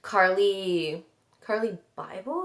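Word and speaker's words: Carli Bybel: I remember her, and Carly Bible is how you say her name.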